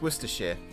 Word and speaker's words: Worcestershire: for it worcestershire it's worcestershire all the counties end in sheer that's it's not shire it's sheer it does make me laugh